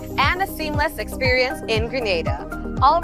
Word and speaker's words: Grenada: So, today like we German say we are in Granada, but I heard in English it's called Grenada.